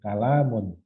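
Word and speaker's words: كَلَامٌ: Karena di lam itu ada alifnya, maka bacanya dengan tekanan kalamun.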